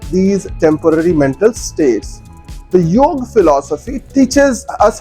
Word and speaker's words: yoga: knowledge series when we talk of yog which is sometimes incorrectly pronounced as yoga we really think of